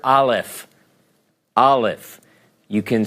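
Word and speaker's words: אלף: So for the present, Aleph. Aleph.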